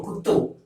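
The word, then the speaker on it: குத்து: to say kuttu, kuthu, kuttu. So you have to pronounce this as kuttu.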